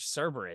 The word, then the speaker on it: Cerberus: There's Cerberus. Oh, you're going to Dave Sims. Yeah. I keep thinking Cerebus is the three-headed dog, but I think I'm mispronouncing. No, that's Cerberus, dude.